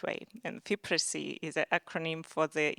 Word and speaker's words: FIPRESCI: So from now on, we are trying to pronounce it in a correct way. And FIPRESCI is an acronym for the International Federation of Film Critics.